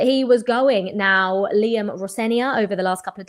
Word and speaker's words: Rosenior: My surname is pronounced Rosenior, and the reason why, I think Liam spoke to Martin Tyler last night before the game.